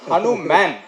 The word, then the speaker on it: HanuMan: love இருக்குன்னு சொன்னீங்க சார் நான் அனுமான் இல்ல சார் நான் ஹனு மேன் அதான் வரேன் வரேன் வரேன்